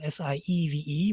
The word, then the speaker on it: Sieve: about resume civ spell s-i-e-v-e but it's pronounced sieve and we find michael